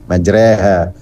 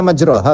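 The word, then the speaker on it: مجرى: Kenapa dibaca majreha? Itu kalau bahasa Arabnya dibacanya majroha toh. Gak ada bahasa Arabnya majreha itu gak ada. Yang ada majro. Yajri jaro yajri majro, ya kan?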